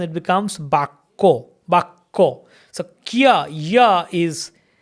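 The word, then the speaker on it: বাক্য: But in Bengali pronunciation it becomes Bakko. Bakko. So Kya, Ya is written. In written Bengali it's written. Ka Jafala, we call Jafala, it's written. But in spoken Bengali we do not pronounce it.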